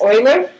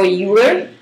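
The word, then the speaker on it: Euler: is a famous mathematician I've heard his name pronounced Oiler like the word oil or uler either way he's a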